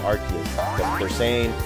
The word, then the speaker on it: Arceus: I'm finally saying the name right. Let's call it Arceus or whatever, but Arceus. I'm saying it right.